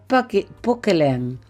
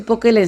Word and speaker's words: Poquelin: se llamaba Jean Baptiste Pokelen. Jean Baptiste Pokelen. Se escribe Pokelin, ¿verdad?